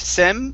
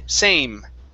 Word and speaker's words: same: Give me a long A sound. Okay, A. Instead of sem, it's say, same.